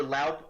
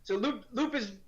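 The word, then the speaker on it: Loup: And then Loop or Laup, I think it's Loop, right? They pronounce it Loop.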